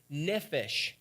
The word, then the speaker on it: nephesh: the word for soul comes from the word nephesh is how it's actually pronounced it's used 765 times in the Old